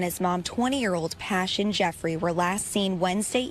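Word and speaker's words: Pashun: sad and I pronounced the mother's name is pashan but it's passion it's spelled p-a-s-h-u-n it looks like pashan but nevertheless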